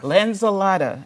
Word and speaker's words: Lanzilotta: I don't want to make Lanzilotta. Lanzilotta, an environmental artist Thank you, yes.